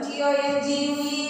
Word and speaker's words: tongue: T-O-N-G-U-E is pronounced as tongue.